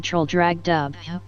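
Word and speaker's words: Traldragdubh: It contained a warrant for conducting me and my retinue to troll drag dub or trial drog dribb for it is pronounced both ways as near as I can remember by a party of 10 horse.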